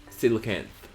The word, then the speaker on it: coelacanth: Artichoke says it's pronounced as Silicant. Okay. Well, you know, Silicant. We're learning here. Oh. It's the word of the day. Silicant.